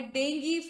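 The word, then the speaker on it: dengue: इसको मैं डेंगी fever बोल रही हूँ क्योंकि डेंगी इज the correct pronunciation of this term in English, और हम हिंदी में इसको डेंगू बोलते हैं, जो कि कोई गलत बात नहीं है।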